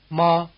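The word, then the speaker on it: 妈: will let you locate the extremes list listen ma ma again mother and horse High versus low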